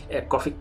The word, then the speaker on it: Coffey: Coffey se lee igual o se dice igual, pero se escribe distinto.